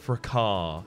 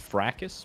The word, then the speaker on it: fracas: broken by an enemy, because I had a fracas in that area. Check my episode footage. I've been dying to wolves for the past hour and a half. It's pronounced fracas, but okay.